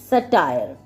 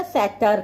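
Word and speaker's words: satyr: सटायर कह लो या सैटर कह लो। ठीक है? मतलब ए प्रोनाउंसिएशन ज Google पे सर्च करोगे ना बड़ी डिफरेंट-डिफरेंट है। ठीक है? सेटर सटायर। ठीक है? कुछ भी कह लो।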